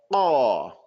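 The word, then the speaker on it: قال: Qala. You're going to jam it up there good.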